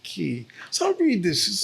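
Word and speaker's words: Cay: It looks like K. It's spelled C-A-Y, but everyone pronounces it Key.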